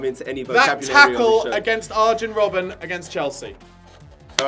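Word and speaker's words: Arjen Robben: any vocabul tle against arjin Robin against Chelsea all right that's a point for em for saying Arin Robin when it's iron Robin that's four that's four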